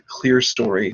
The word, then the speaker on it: clerestory: where the windows are is known as the clear story times pronounced clerestory so the traphorium is